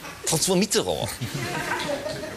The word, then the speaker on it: François Mitterrand: Das ist übrigens die korrekte Aussprache des Namens. Ja? François Mitterrand.